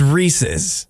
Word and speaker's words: Reese's: It's Reese's. Reese's. It's Reese's because if you look at, actually, this is helpful. It's helpful if you know about Canada because in Canada, they don't have the apostrophe S.